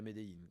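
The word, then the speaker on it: Medellín: Tout le monde dit qu'on peut aller à Médéine, que d'ailleurs en Colombie, on dit. Pourquoi ? Parce que c'est leur prononciation.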